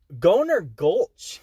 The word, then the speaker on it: Goner Gulch: gulch ghanian gold no he pronounces it like this he says goner gulch that's a weird name